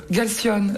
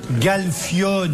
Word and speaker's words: Galfione: Galfione, comme le fion, C'est voilà.